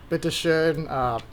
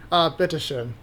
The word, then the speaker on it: bitte schön: enough to kind of simple phrases like danke, bitte schön, which is please and thank you. Yes. Oh wait, no, sorry. No. That was thank you and you're welcome. Okay, how do you say you're welcome? Bitte schön.